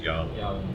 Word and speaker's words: Yahweh: the four-letter tetragrammaton which scholars uh say the mo the closest possible pronunciation is yahweh yahweh okay so the same